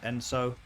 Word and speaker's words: ENSO: logo and band name so that's enso it's pronounced enso and it derives from this specific design right